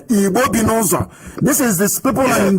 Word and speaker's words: Ibom: Ibom. This is this people in Delta State. They call Naja, South, and whatever rubbish they can come up with. Ibom.